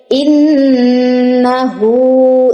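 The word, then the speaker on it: إِنَّهُ: ইন্নাহু, ইন্নাতে ওয়াজিব গুন্না আছে, ওয়াজিব গুন্না করার পরে দ্রুত ছেড়ে দিয়ে হাতে যাইয়ে 1 আলিফ টান দিতে হবে।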